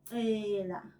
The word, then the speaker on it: cela: When we say please in isiZulu, we use the verb cela, which is to ask in isiNgisi, English. Cela, we learned it when we were learning how to say the sound from the letter C.